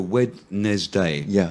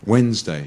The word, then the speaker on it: Wednesday: d a y so wedes day if you were really pronouncing it phonetically you know wedes day but it's actually you forget the D yeah completely yeah Wednesday you know yeah and